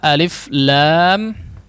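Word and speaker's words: الم: dibagian tengahnya Hai disitu cara membacanya adalah alif.lam.mim itu cara membacanya alif-ya dibaca alif lam ya dibaca Lam Mim dibaca meme Oh ya Coba kalau kita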